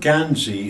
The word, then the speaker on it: Gansey: The word Gansey is a derivation from the word Guernsey. It's where the northeast people talk, and they just naturally go into the word and call it Gansey.